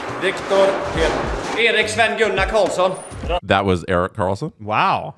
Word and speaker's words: Viktor Erik Sven Gunnar Karlsson: Linus Ullmark, Viktor Erik Sven Gunnar Karlsson.